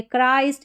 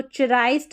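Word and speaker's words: Christ: दिया च नहीं गलत हो जाएगा इसको पढ़ेंगे क्राइस्ट। इसको चराइस्ट नहीं पढ़ देंगे।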